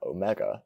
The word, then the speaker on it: omega: The final letter, omega, is always a long vowel. In Erasmian pronunciation, it is a long O, as in bone. In ancient pronunciation, it is like the O in long.